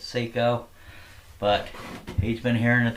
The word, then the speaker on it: Seyco: did I mean by that well the the Seiko saw is actually pronounced Seco and the reason why kind of makes sense